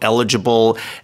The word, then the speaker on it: eligible: The stress is on the L right the eligible.